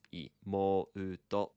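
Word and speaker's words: 妹: And there's an u there after the mo. So it's Imouto.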